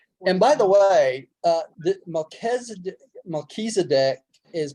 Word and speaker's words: Melchizedek: It is Melchizedek. It You know, is. I That's is pronounced as E. Well, Melchizedek. it's the Hebrew. CH is always K in Yeah, Hebrew.